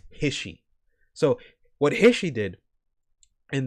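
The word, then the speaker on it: HISHE: H they they they they say it's his he I'm not pronouncing it hissy. It's Hishi.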